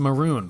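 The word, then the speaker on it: Mörön: Sadly, it's pronounced maroon, but that ruins the joke.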